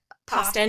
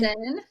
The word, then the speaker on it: Poston: And then my second one is The Dead Romantics by Ashley Boston. Poston. Thank you. Rhymes with Boston.